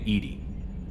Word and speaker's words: EDI: Why are you named Edie? EDI is the phonetic pronunciation of EDI.